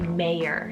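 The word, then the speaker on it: Meyer: boy's name option so i have the name meijer spelled m-e-i-r or an anglicized pronunciation of this could be mayer spelled m-e-y-e-r this one means bringer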